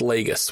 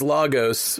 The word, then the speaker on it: Lagos: one in Nigeria yes the Nigeria one is pronounced Lagos we had a Nigerian listener write in and be like they say it wrong in the MCU the MCU says logos but it's leg right not but yeah and